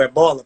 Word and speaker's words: Ébola: anteriores com outras pandemias, como o Ebola, por exemplo, ou Ébola, né, como se fala em português de Portugal?